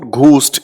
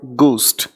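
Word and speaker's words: ghost: बेटे, इसकी प्रोनाउंसिएशन को समझना, इट इज नॉट घोस्ट, इट is called गोस्ट।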